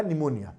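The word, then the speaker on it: pneumonia: से होगा कल रहा पी से होगा निमोनिया जब मैं पी साइलेंट होता है निमोनिया आपको भी पता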